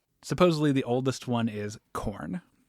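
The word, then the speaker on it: Khorne: that because fantasy Supposedly the oldest one is corn. Is it spelled with a K?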